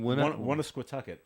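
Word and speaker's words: Woonasquatucket: You pronounce on that pretty her. well. Well, say it again. Wannasquatucket.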